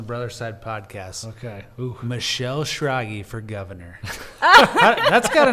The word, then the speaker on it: Schrage: started telling people Michelle rhymes with froggy because it's not phonetic when you see it no it's not but